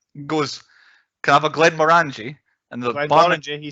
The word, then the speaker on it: Glenmorangie: he walks in, goes, "Can I have a Glenmorangie?" And the barman, he said it right. Okay, Glenmorangie.